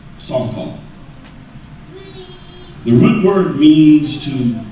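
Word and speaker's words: שחה: The term that's used in the Old Testament for worship is the word, I'll spell it to you, it's S-H-A-C-H-A-H, which is pronounced Sarkal.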